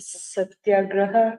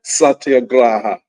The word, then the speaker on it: Satyagraha: Why did African Americans embrace right, Santagraya and Ahimsa? right, Close. Yeah. How would you pronounce it? Satyagraha. Satyagraha.